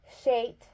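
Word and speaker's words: Scheat: not talking about crap it's spelled s c h e a t shap but in lay in terms it sounds exactly about around the same as well you know feces and there's also the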